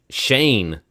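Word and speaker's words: Schoen: the bowl and also apparently dabal i've been mispronouncing the gm's name because it's like shane i've been saying show it yeah so i'm guessing that's an irish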